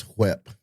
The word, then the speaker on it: whip: It's whip. Whip. Yes. You got to pronounce the H.